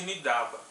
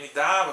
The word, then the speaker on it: Nidaba: As leituras como Nis, Asaba, né, tradicionalmente, e também Nidaba, que foi proposta mais recentemente, eles se baseiam principalmente em algumas colunas de pronúncia cadianas, em textos lexicais onde são encontradas essas escritas, né, como Nisaab, Nisaaba e também Nidaba. E a leitura Nidaba que foi a preferida nos tempos, vamos dizer, modernos, então a gente está adotando.